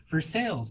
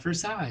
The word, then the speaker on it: Versailles: I'm still getting used to Kentucky where it's like Versailles, not Versailles, and I'm still learning.